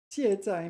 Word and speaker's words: 卸载: 卸载 meaning unload, and here it's used for software.